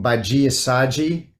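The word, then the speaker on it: Badi Assad: And I did the album Baji Assaji, and that's spelled Badiassad, with the Brazilian.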